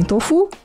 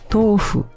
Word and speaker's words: tofu: comum as pessoas falarem tofu tofu às vezes eu falo então full também desde criança todo mundo né japoneses aqui no Brasil né descendentes falam tofu mas a pronúncia correta é tofo tá então topo esse